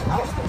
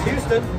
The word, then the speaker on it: Houston: Houston Street. If you pronounce Houston, you're wrong. It's Houston.